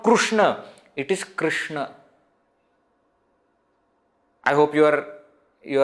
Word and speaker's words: Krishna: Gujarati Krishna isn't it we we use the pronunciation called Rue in North India Etc they will say Krishna Krishna it is not Krishna it is not Krishna it is Krishna I hope you are you are able to